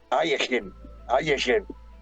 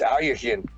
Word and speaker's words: Alekhine: It's Alekhine. I think it would sound more like that, Alekhine.